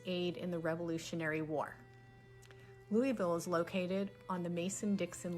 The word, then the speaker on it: Louisville: thing to say because it's not spelled like that so this is not louisville and it's definitely not louisville unless you're just trying to you know like make nice with the locals but it's it's two syllables louisville you have to kind of swallow it together so if you have